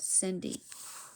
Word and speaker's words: Cindy: The cat was called Cindy. Cindy is a s C that sounds like an S.